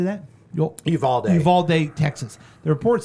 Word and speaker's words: Uvalde: Uvalde, Texas.